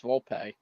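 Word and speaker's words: Volpe: pleasantly surprised that uh vulp showed I'm is it vulp or is it vulpe I think it's vulpe okay it does have an accent on the E so my apologies there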